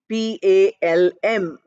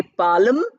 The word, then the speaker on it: palm: And this is the palm, Palm. Although L is written, we don't pronounce it. We don't say palm, we say palm.